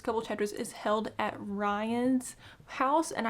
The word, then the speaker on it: Rhion: chapters is held at Rhion's house and I believe that's how you say his name. It's r h i o n, so we're going to call him Rhion.